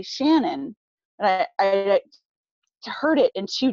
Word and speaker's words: Shanann: on your birth certificate and you wanted it pronounced not Shannon but Shannon right well she was she I called her